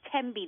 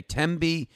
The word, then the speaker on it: Thembi: your name correctly yes my name is TBI the H of silent okay TBI yes you said